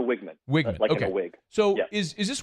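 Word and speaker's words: Weigman: way did we say Wegman or we say Wegman how do you say his last name it's Connor wigman okay so is is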